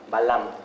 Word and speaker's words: balam: La vocal final no se pronuncia, pero tenemos la sílaba ba, la sílaba la y la sílaba ma, Balam. Y ese es como principalmente escribían los mayas.